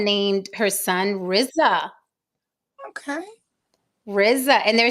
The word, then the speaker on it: Rizza: think that Rizza Islam his name is Reza it's not as Risa that's how it's pronounced everybody calls him Rizza but it's not Rizza it's Riza black black people particularly southern